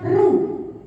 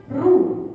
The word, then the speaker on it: roux: atau hidangan Eropa yaitu dikenal namanya ruh tulisannya roux tapi ya dibacanya ruh yaitu ruh apa campuran antara butter